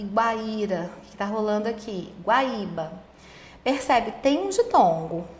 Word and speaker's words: Guaíba: Guaíba.